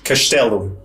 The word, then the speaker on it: castelo: J: So in Portuguese, if a word ends with 's', then it gets that 'shh' sound. Or if it's followed by a consonant. Castelo, castle. R: Yeah, castelo.